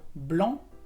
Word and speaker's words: blanc: También tienes el adjetivo blanc, que es blanco, la C no se pronuncia.